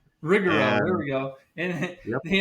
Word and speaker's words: Rigero: And with me today is Rich Bomb, one of the founders of Regger Rigger. You pronounce it Rich. I can't. It's Rigoro. Rigaro.